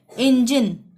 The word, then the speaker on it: engine: यहाँ पे भी ज का उच्चारण हो रहा है। इंजन, ENGINE, जी के बाद आई आ रहा है तो ज का उच्चारण होगा इंजन।